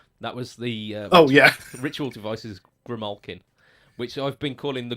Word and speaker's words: Grimalkin: That was the Ritual Devices Grimalkin, which I've been calling the Grimalkin for so long, but your pronunciation is absolutely spot on.